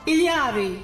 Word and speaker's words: Ilari: Ilari.